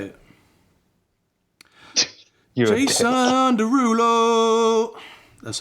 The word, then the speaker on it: Jason Derulo: Jason Derulo.